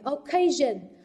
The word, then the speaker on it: occasion: Occasion, occasion, trọng âm rơi vào âm tiết thứ hai.